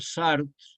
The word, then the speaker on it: Sartre: poderosísima algunas obras de Jean Paul sart se escribe sartre y de Albert camu